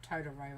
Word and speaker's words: Totoro: your neighbor was no that's totoro or totoro actually is how it's pronounced isn't it god those